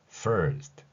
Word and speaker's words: first: F 발음은 윗니로 아랫입술을 무시고 그 상태에서 발음을 진행하는 것입니다. First 이렇게 발음하는 것이죠.